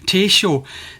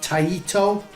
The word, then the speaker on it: Taito: has stated that this particular word should be pronounced taisho now i can't confirm or deny this because